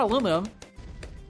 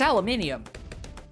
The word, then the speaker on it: aluminium: So it's not aluminum, it's aluminium. We just screwed up the pronunciation when we took it to the States.